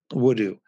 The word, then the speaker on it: Woodoo: name and he said it's a combination of wood and voodoo wudu and i think that's